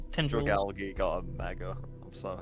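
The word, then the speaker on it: Dragalge: Dragalgi got a mega. I'm so happy. It's, oh man, It's one of my favorites. Dragalgi, yeah. I get. I do a hard G.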